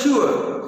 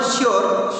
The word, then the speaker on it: sure: When I decided to go abroad for further studies, I was sure, right pronunciation was sure, not sure, sure.